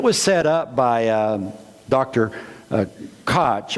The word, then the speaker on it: Koch: Koch. I want to say Koch, K-O-C-H, and if I could do the German throat clearing, I could say his name properly.